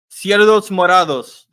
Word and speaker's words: cerdos morados: Cerdos morados. There you go. Cerrados. Cerrados. Say it again. Say the last one. It's morados. Morados.